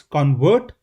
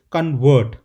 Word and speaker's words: convert: And in the very same way, if you see the stress pattern analysis, it's convert. The stress is on the first part, whereas second is convert. So the noun would be convert.